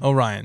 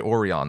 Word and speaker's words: Orion: love of God yes some people say Orion though yeah like an Oreo people are like well those people are just flat wrong but it is it